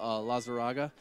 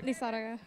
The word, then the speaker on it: Lizaraga: But I'm here with Lazaraga. How do you say that? Come on. Yeah. Lizaraga. See, that's how you say it, Brandon.